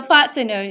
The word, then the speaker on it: fastener: nine okay it's a fasteners you can no doubt this word and T the salty in this word will be silent yes so we just pronounced fastener the next one the